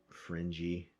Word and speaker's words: fringy: much are like universally fringy which rhymes with cringy but you know more